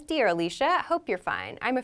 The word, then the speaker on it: Alisha: example is my name it's spelled a-l-i-s-h-a i pronounce it alicia some people might choose to pronounce it alicia so that's up to personal preference you have